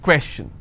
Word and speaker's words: question: two question all right and I will stress here question clear so the rule